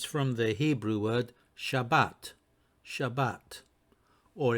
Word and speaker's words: Shabbat: from the Hebrew word Shabbat Shabbat or if you want to pronounce it in the Ashkenazi way Shabbos some more information about